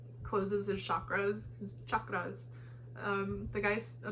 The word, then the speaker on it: chakra: he like closes his chakras. The guy, he pronounces it so like enunciated on the show, and I think it's fun.